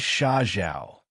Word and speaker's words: Shiao: My name is Shiao which has the same pronunciation as desert.